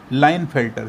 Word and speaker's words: Klinefelter: ये भी एक साइंटिस्ट थे, तो इनका जो नाम होता है KLINEFELTER, लाइनफेल्टर, इसमें के साइलेंट रहता है, इसको बोलते हैं लाइनफेल्टर सिंड्रोम।